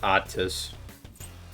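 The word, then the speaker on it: Athis: I guess he pronounces it Autis, which sounds like autist.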